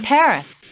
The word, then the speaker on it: Paris: of France live in Paris wow so this is Paris I can't believe that I've never visited the capital of France before yeah well the locals pronounce it Pari Carmen's conducted a lot